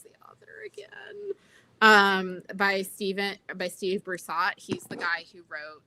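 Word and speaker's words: Brusatte: By Steve Broussard. He's the guy who wrote the big dinosaur pop sci book. I think it's Broussardi. Broussardi, thank you. That's how they pronounce it on the audiobooks.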